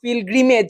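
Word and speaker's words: pilgrimage: officers and servant of পিলগ্রিমেজ আচ্ছা সে কিন্তু পিলগ্রিমটা পিল গ্রিমেজ উচ্চারণ ঠিক করবে উচ্চারণ ভুল করবে না পিল গ্রিমেজ হ্যাড বিন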